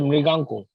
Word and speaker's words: Mriganka: Sir, Mriganko. How do you spell that? Mriganka. Mriganka. G-A-N-K-A. Mriganka. Yes, sir. This is pronounced as Mriganko, sir.